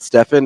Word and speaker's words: Stephen: the literally the reason I call say it Stephen is because it probably is literally the only person I've ever seen in my life who pronounces it Stefan is Steph Curry the only